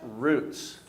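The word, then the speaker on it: רוץ: So let's sound those out. A resh sounds like what? A vav here sounds like oo. And the tzadeh sounds like ts. And so if we pronounce it, that's roots.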